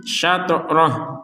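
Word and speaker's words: شَطْرَهُ: Syatrah. Jadi berhentinya di kata atau di potongan roh seperti itu. Maka kalau kita berhenti di akhir kata syatrah ini, untuk harokat h-nya kita tidak membacanya.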